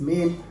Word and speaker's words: mesne: profits but the pronunciation even though pronunciation is mean the spelling is n-e-s-n-e-p-r-o-f-i-t-s